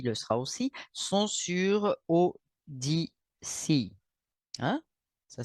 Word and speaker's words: Odysee: 41, et celle-ci le sera aussi, sont sur ODC. Hein? Ça s'écrit ODYSEE.